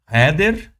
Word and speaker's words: Heeder: Heer, que é do alemão, a pronúncia já vem do alemão.